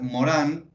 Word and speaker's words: Morin: filósofo que se llama se escribe edgar morin se pronuncia edgar morán es francés e el